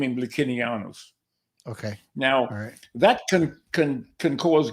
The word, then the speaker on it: Licinianus: Licinianus. Oh boy, I've been saying it wrong in my head this whole time. Say it again for me. Licinianus. Licinianus. Licinianus. Latin C was pronounced K.